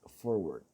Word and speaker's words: forward: And take a close look at forward. Forward has two Rhotic Schwas, one at the beginning and one at the end.